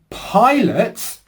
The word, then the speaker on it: pilot: So for toy as in toilet, our lips are rounded. Oo, oi. I as in pilot.